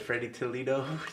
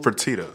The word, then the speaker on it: Fertitta: That boy said Freddie Toledo. Bro, hold on, bro. I don't know how to say his name. What the fuck? Tillman Fertitta, fool. Fertitta.